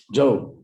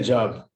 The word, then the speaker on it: Job: Job, right, and he suffered a lot. What? No, I thought it's Job, like to get a job. Yeah. No, that's how his name is pronounced in English, Job.